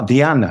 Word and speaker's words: Diana: So Diana, you are Diana, I think it is pronounced, isn't it, Diana?